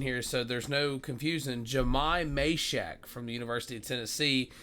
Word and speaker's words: Jahmai Mashack: Um, and of course I'm talking about the guy known as we got the pronunciation here so there's no confusion. Jamai Mhack from the University of Tennessee.